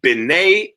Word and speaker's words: B'nai: So B'nai Yisrael is children of Israel. Okay. And this is how we would spell it out in English.